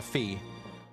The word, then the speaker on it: Fi: there that call her Fee. Although I guess see I always pronounce her name as fi because f and I so fi but I can I can some people call say fee and I can see why